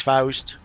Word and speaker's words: Faust: like, oh my goodness, I've been saying it wrong all this time. Nope, it's Faust.